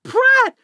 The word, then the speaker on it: Pratt: that like differently backwards it's Pratt which is like rad with a p in front of it what's new robotic turned